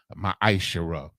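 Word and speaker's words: מעשר: It means 10th in the Hebrew and is pronounced ma'ashera.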